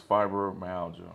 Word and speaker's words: fibromyalgia: I don't want to mispronounce it. It's fibromyalgia.